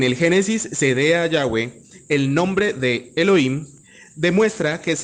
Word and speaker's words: Yahweh: En Génesis 2, el nombre Elohim se combina con otro pronunciado Yahweh, transcrito habitualmente como Yahvé y traducido por Señor, y considerado una abreviatura del nombre completo Yahweh Asher Yahweh.